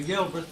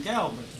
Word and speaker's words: Galbraith: Probably half the people here would call me Galbraith, but I'm Galbraith, G-A-L, like a girl.